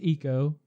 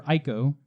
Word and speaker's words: Ico: corner we're getting there technically pronounced eco I prefer ICO but yeah I also call Becca yeah I had to think about it I think Japanese language doesn't have like the strong eyes or so I don't know whatever gone they pronounce it eco and they make it